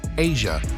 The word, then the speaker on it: Aja: Aja, pronounced Asia, was eventually tracked down, and while certainly surprised, she was thrilled to speak about her dad's eclectic series of photos.